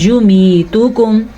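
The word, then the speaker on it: يميتكم: یمیتکم، تا کو لمبا نہیں کرنا، یا کو لمبا نہیں کرنا. یمیتکم، استغفر اللہ، ایسے بھی نہیں پڑھنا، ہم نے پڑھنا ہے یمیتکم.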